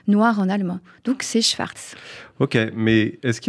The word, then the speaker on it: Szwarc: dis Schwarz on dit Schwarz il faut dire Schwarz je vous explique pourquoi parce que ça s'écrit comme ça se prononce s Z en fait c'est l'orthographe polonaise de Schwarz on est en mondidich